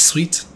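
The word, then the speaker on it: suite: how this is pronounced is it pronounced sweet or sweet you pronounce this sweet okay Embassy offices back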